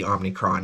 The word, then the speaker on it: Omicron: findings on omnicron varun i'm not gonna pronounce it right it's obviously omnicron if you pronounce it differently than that you're wrong we don't know how